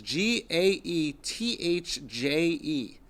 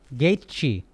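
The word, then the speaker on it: Gaethje: __ ] pronounce it's ji-ae th je gate chi either not gate key gate she is E's like a real American boy so he's I guess pronounces it that way probably French or some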